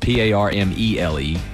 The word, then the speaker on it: Parmelee: It's spelled Parmelee, but pronounced Parmalee, which I have no idea how that worked out.